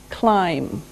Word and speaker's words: climb: the first verb is climb climb now it doesn't sound like it looks now if this letter B is silent climb okay we climb a